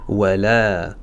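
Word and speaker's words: ولا: Wala wala mais ce alif ne sera pas prononcé.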